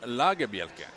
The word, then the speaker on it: Lagerbielke: to break out with a official pronunciation of a Scandinavian name, you have to say it slower so people can understand and learn it. Lagerbielke. Gustav Lagerbielke.